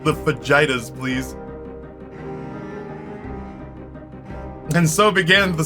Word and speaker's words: fajitas: I remember my dad saying a hard J to the waitress and me correcting him, only for him to double down and explain to me that he, being named Jim, experience pronouncing the J sound and doesn't need my help.